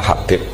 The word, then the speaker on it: Habib: Itu di harakatnya kitab itu ada yang nulis khubab. Tapi yang benar Oh, nggih. Yang benar itu bacanya Habib.